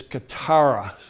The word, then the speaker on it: catarrh: And this nasal specialist had diagnosed him as having a nasal, and I believe the correct pronunciation is catarrh, C-A-T-A-R-H, I think is the spelling.